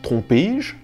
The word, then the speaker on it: trompé-je: Tromper devient par exemple trompé-je, où l'on est obligé de rajouter un « et » pour pouvoir prononcer le tout.